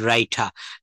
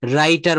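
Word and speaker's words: writer: হি is good teacher as well as good রাইটার। রাইটার বলা হবে না। রাইটা রাইটা। এটা যদি আপনি আমেরিকাতে গিয়ে বলেন এই শেষের আরটাকে উচ্চারণ করতে হবে।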